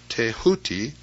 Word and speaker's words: Thoth: scribe of the gods Thoth, pronounced Teahuti, the so-called emerald tablet